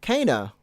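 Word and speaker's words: Kena: I think her name is actually, for some reason, it's spelled Kenna, but when you hear it in the game, it's like Kana.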